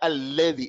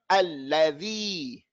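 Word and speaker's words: الَّذِي: It's not alladhi, it's la. Allah. Alladhi.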